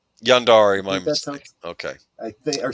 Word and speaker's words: yandere: And before someone says something, I I do believe that the term is pronounced Yandere. Yandere, my Okay.